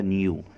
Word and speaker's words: knew: نو الماضي من نو، K-N-O-W، بتتنطق بطريقتين، نو الأمريكان يقولها نو والبريطاني يقولها نيو.